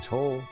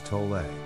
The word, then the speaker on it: Tolle: Leonard Tull his surname can be pronounced the German Way as in toll or more commonly pronounced as tole he doesn't mind either